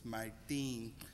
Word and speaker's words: Martín: I heard you're not supposed to mispronounce his name, it's Martín.